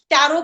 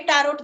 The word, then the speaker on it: tarot: टी ए आर ओ टी टैरोट बट जब हम बोलेंगे उसका उच्चारण करेंगे तो वह सिर्फ टैरो ही होगा। वहां पर टी साइलेंट हो जाएगा।